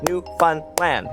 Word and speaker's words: Newfoundland: The big city in Ontario is pronounced Toronto. Nobody says the second T except Americans. Newfoundland is New Fun Land.